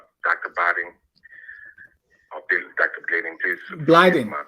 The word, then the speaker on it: Blyden: Blyden. My pronunciation. It's Blyden.